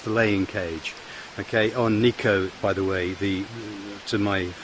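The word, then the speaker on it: Nicot: Okay, on Niko, by the way, to my American friends, the correct pronunciation is Niko, not Nikat.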